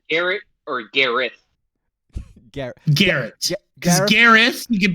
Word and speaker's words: Gareth: Yeah, you got to pronounce it Gareth.